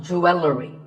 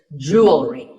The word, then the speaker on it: jewelry: It's not jewelry and it's not jewelry. It's jewelry. Up next is the word quote.